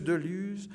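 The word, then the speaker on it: Deluz: Voici monsieur Delus a fait ce on va dire de lu d'ailleurs hein, on prononce pas le Z en Suisse en pays de Vaau.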